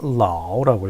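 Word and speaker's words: 老: 중국어에서는 라오라고 읽힙니다.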